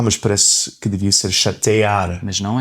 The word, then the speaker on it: chatear: mas aquele é lê-se como um I. Chatear. Chatear. Ah, mas parece que devia ser chatear.